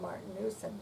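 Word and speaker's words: Martinus: e n off of Martin Newson which probably should have still been pronounced Martin news but it was m-a-r-t-i-n-u-s not easy and so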